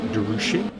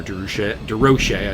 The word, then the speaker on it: DeRoche: So seems to have stepped it up and is keeping with Mamoto and Richard DeRoche. Or DeRoche, I should say.